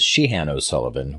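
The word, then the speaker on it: Siodhachan Ó Suileabháin: his real name is Sheehan o'sullivan which I never would have gotten from the way it's spelled thanks to the audio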